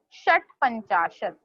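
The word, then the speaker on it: षट्पंचाशत्: Shat panchashat. षष्टपंचाशत, Shat panchashat. षट्पंचाशत. Wow, now you are on the correct track. जैसे हम बोलते हैं ना shut the door, likewise you have to pronounce shat panchashat.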